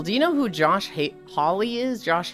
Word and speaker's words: Hawley: So, Pixel, do you know who Josh Hawley is? Josh Haley?